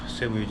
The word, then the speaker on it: Cebu: Əssodu Cebu'ya gəlib çatdım.